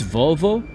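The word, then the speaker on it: vavó: That's That's how I would pronounce that if I were like a middle-aged mom living in Wisconsin. Vavo. It's Volvo.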